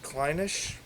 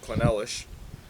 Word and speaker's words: Clynelish: tagged in and uh she said kleine ich probably close to me cuz I woulda said quinella SH and I know I